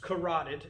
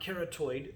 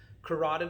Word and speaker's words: carotid: carotid and it's pronounced carotid not keratoid there's no extra o in it carotid like rotted meat or rot something that's rotting carotid right common carotid